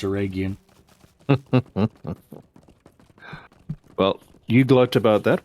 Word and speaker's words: Eregion: The wiki says air egg eon. So there, I got you. You can keep your aluminium. I know how to pronounce Aragian.